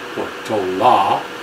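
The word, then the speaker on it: Portolá: So Port de Portola, de Portola, to pronounce it as he did, he and his group just marched right on past the bay, never saw it.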